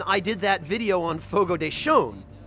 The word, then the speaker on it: Fogo de Chão: did that video on Fogo de Chão. Because that was how I learned that the tilde over a vowel in Portuguese means that the vowel is pronounced with an additional N sound.